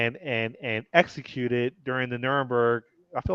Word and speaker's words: Nuremberg: name was it called nirenberg how do you pronounce it yeah Nuremberg Nuremberg just following orders exactly yeah that that's the